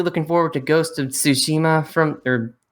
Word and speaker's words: Tsushima: And I'm also really looking forward to Ghost of Tsushima Tsushima. I think that's how you pronounce it, because the T in front of it, because Tsu, not Tsu.